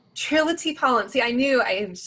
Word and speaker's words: Trillitye Paullin: her say her own name trill can you pronounce it for me absolutely it is trilogy pollen triloty pollen see i knew i was just going to